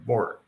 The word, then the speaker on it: Borg: And Mitch pronounced, okay, so it's org with a B at the beginning. So Borg. Nice.